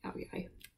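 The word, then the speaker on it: Áo dài: It looks like Ao Dai, but the line through the D means that it's pronounced like a yai sound, like Ao Dai.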